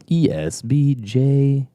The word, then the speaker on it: Esbjerg: You didn't pronounce the J. That's why I said I don't know. It's ESBJERG.